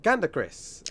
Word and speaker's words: GandaKris: Hello, my name is Fayaz from Nintendo Players UK, and I'm here with GandaKris. Have I pronounced that correctly, just to make sure?